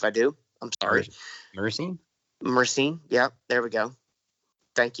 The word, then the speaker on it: myrcene: We were talking about, I think it's mycerine is how it's pronounced, and I might sound like an idiot, and if I do, I'm sorry. Myrcene? Myrcene.